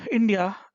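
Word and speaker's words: INDIA: और कांग्रेस ने अपने गठबंधन का नाम इंडी अलायंस रखा है, याद रखिएगा, जिसे वो इंडिया प्रोनाउंस करते हैं।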